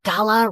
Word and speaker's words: gala: Isn't it weird how the word gala rhymes with voila, like a big performance reveal?